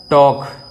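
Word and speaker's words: talk: में लिखा जाता है वॉक ठीक टोक ठीक इसमें जो एल जो है साइलेंट रहता है एल जो है वह साइलेंट रहता है तो उसका उच्चारण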